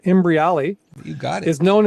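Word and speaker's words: Imbriale: So Robert Imbriali, if I say his name right, Imbriali, you got it, is known as a motivational marketer.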